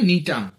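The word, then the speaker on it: Gnetum: cycas C ওয়াই সি এ cycas গাছ Pinus P আই এন ইউ এস নিটাম জি এনই টি ইউ এম উচ্চারণটা নিটাম ইত্যাদি তারপরধর ধর এনজিওস্পারম যাদেরকে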